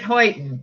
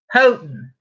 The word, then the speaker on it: Houghton: these books I was their fan books heightened okay I know I'm saying it wrong again Houghton Oh like Hou ght t o n isn't